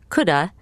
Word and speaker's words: could have: Remember that you can also pronounce could have, coulda, and might have, mighta.